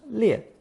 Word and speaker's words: 裂: Today's fifth character places the character 裂 above the clothing radical, thus inventing another character pronounced 裂, used to mean tearing or splitting.